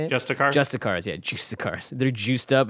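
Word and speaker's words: Justiciar: Justicars, yeah, Justicars.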